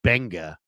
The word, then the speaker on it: Gbenga: His name's David Benga, and it's spelled Gbenga.